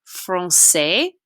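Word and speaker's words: français: an s sound okay so like in the word francais francais which is the word for french francais we give that a nice s sound and in the word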